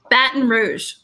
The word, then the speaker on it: Baton Rouge: we've already mentioned several times how do you pronounce that kim baton rouge correct congratulations all right all right now for